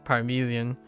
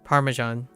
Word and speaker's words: Parmesan: Parmesian. Uh, Parmesan. Parmesan. Oh. Oh, wait. British. I heard British say um Oh no.